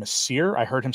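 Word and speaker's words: Sire: I'll actually probably do it tomorrow he actually pronounced his name as seir I heard him say it himself so take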